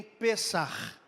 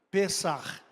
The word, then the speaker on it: Pesach: Que nem Pesach. Tem som de 2 R's no final. É um CH, mas a pronúncia é com 2 R's, como se fosse isso. Pesach, Sameach.